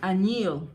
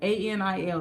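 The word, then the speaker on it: añil: The Latinos, if you go to Botanica, they call it anil. A with the N, with the little slanted N on top, I-L, A-N-I-L, anil.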